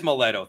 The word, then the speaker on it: Maletto: Am I pronouncing it right? Is it Maletto? It is Maletto.